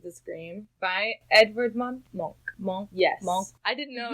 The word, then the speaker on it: Munch: Monk. Yes. Monk. I didn't know it was pronounced that way. We've all been pronouncing it wrong, America. Well, we were all like Edvard Munch.